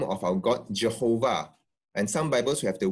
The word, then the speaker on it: Jehovah: So the second thing is, if it's Yehovah, why do we pronounce it Jehovah? And this is because of the way English evolved.